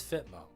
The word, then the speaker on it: FTMO: It's not FitMmo. No, I'm not saying FTMO. I'm not saying four syllables. It's FitMo. It's way more fun to say and it makes sense. You think I'm saying FTMO? No. Fitmo. It's the only thing that makes sense.